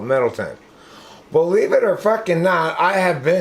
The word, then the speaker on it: Middletown: an old town huh it's spelled middletown but we call it middleton believe it or [